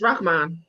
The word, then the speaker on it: Rahmaan: Yes, it's Rahmaan.